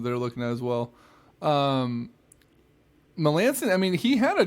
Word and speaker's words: Melancon: who's from the Nationals Melanson that's how you say his name Melanson Melancon I like better Melanson